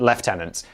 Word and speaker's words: lieutenant: And I finally got it screwed into my head only to become a YouTuber and then get from every American for pronouncing lieutenant left tenant.